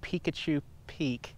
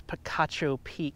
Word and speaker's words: Picacho Peak: said in my video welcome to Pikachu peak because it's spelled very similar but later learned from my loving viewers that it is Picacho Peak here the famous rock